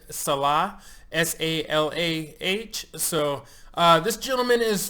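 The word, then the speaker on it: Salach: It's O-R space S-A-L-A-C-H, and he says it's pronounced Salah, S-A-L-A-H.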